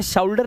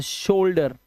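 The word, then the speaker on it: shoulder: अब इसे शाउडर नहीं पढ़ेंगे। इसे शोल्डर मोल्ड।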